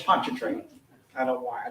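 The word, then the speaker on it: Pontchartrain: It's Ponchatrain.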